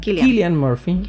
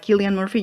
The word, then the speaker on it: Cillian Murphy: No sé si voy a pronunciar bien su nombre, pero el actor, el protagonista, ¿se pronuncia? Cillian Murphy. Parece que él dice que así se pronuncia su nombre.